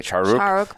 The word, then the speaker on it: Shah Rukh: It's spelled C-H-A-R-U-K, Shah Rukh, but it's sound like Shah Rukh.